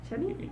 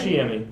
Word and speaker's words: Chiemi: Chemi? I'm not sure how to say it. Chiemi. Chiemi, yeah.